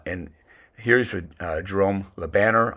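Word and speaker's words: Jérôme Le Banner: here is with uh Jerome lebanner I've also heard pronounced drum Laban uh they had five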